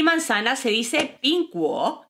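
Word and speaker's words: 苹果: Pues porque nochebuena en chino se dice PINGANYE y manzana se dice PINGGUO y ya sabes lo que les gusta a los chinos los juegos de palabras.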